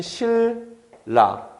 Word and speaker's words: 신라: 지금 신라 같은 경우에는요, 내가 일부러 신라라고 발음했는데 발음할 때 보면 실라, 인접한 두 자음이 그냥 같은 소리가 됐죠. 그 다음에 갑, 만 이 친구는요, 발음할 때 보면 감하고서 만, 이 친구도 인접한 두 자음이 그냥 같은 소리가 됐죠. 그죠?